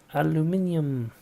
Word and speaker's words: aluminium: Aluminium. Which is the actual spelling of it. Aluminum is what the Americans say. It's aluminium because there's an iron there.